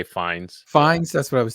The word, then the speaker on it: Fiennes: I don't know how to pronounce his name. Fiennes. I always say Fiennes.